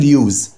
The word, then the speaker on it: use: about the use of wood، هننطقها use عشان اسم، لو فعل use.